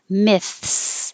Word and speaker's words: myths: but gimmicks attorney attorney myths and yes you do have to have that th in there myths so